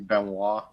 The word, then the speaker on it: Benoit: she pronounces her name Benoist, but it's Benoist? actually Benoit.